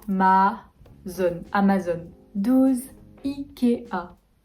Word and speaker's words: IKEA: ouverts les a à ma zone amazon 12 ikea y est pas ikea je vais aller voir